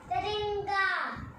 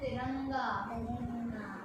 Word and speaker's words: तिरंगा: Tiringa, Okay, इसकी pronunciation है तिरंगा.